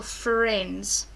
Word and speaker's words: friends: The I is a sort of hidden silent letter, so I think that's why we can sometimes miss it out. So just be careful learning that one, that you've got your silent friend I after the R.